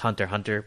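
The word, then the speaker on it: Hunter × Hunter: But I started Hunter X, or I think it's just Hunter Hunter, but it's spelled Ooh. Hunter X Hunter.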